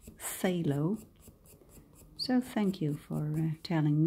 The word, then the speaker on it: phthalo: I now know that the world word Taillow is not I don't I didn't pronounce it correctly it is in English fellow so thank you for